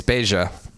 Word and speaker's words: Beja: So in Spanish it would be Beja, but in Portuguese it's Beja.